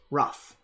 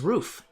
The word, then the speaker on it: Ruf: right I would say most people in the u.s. pronounce this the correct American pronunciation which is rough the original German is roof sometimes people say roof that's cool too whatever but here I can be